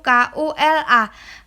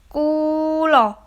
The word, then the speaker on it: kula: Untuk gambar nomor 4 itu di bawahnya sudah ada huruf KULA. KU bacanya ku, LA bacanya lah. Kulo, nggih, membacanya kulo, mboten kula, nggih.